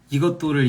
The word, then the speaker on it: 이것도: 이것도 저것도는 그냥 발음 자체가 쌍디귿인 겁니다.